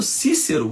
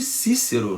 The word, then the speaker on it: Cícero: vive um sujeito chamado Cícero, o grande Cícero, né, na pronúncia tradicional, né, na pronúncia eclesiástica seria Cícero, né, ou então na pronúncia reconstituída Cícero, olha que birutice, né, o latim, né?